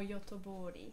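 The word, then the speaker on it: Göteborg: to talk to the mayor how do you pronounce the name of that term gothenburg or yotobori yes that's the one and to talk to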